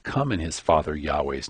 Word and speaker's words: Yahweh: the video on pronouncing yahweh's name we saw how the Creator's name is Yahweh Yahweh or perhaps yahwah we also saw how any of these pronunciations and perhaps even others might be equally valid seeing as yahweh's name